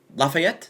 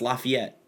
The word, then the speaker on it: Lafayette: make up for that by mispronouncing all the things they named around here Lafayette no it's Lafayette Tero ter trying to